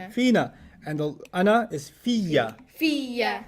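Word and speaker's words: فيَّ: فينا And the ana is fiya. فيا The ya becomes doubled, yeah فيا right? Because there's a ya already in fi, and there's a ya in the ana.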